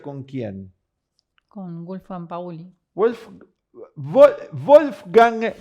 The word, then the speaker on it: Wolfgang: Wolfgang, creo que se pronuncia, ¿no? En alemán. Wolfgang, como Mozart. Sí. Wolfgang, el mismo nombre que Mozart.